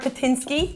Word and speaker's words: Patynski: I'm here with Patynski.